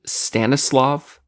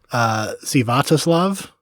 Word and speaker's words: Sviatoslav: His name's Stanislav Richter. I think that it's actually, it looks like it's pronounced Sviatoslav.